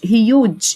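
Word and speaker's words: huge: يعني صفت ضخم يعني هيوج هيوج الاي في الاخر لا تنطق صوته عالي لاود لاود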